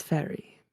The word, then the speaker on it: Fayre: My name is Fairy. Very. So that I don't goof this up, will you please spell that?